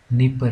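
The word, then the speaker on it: Dnieper: आगे आई नीपर river, D silent है इसमें, इसको बोलते हैं नीपर रिवर।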